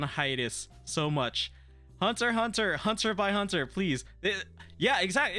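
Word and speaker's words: Hunter × Hunter: Great Pretenders amazing anime Hunter by Hunter guys the X pronounces by please Spy bye family it's a great anime um I know people do be saying Hunter hunts or Hunter x Hunter it's a great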